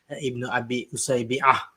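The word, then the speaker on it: Ibn Abi Usaybi'a: So to start off, actually the pronunciation of the name is Ibn Abi Usaybi with the Ain. Usaybah.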